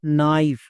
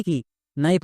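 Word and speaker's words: knife: তাহলে কি হলো নাইফ, নাইফ মানে কি, নাইফ মানে হচ্ছে চাকু। একে আমরা ভুল করেও কে নাইফ বা কো নাইফ এরকম উচ্চারণ করব না, কারণ এখানে কেটা সাইলেন্ট।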